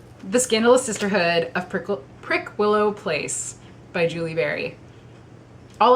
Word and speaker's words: Prickwillow: week's book is the scandalous sisterhood of prickle prick willow place by julie berry all last week when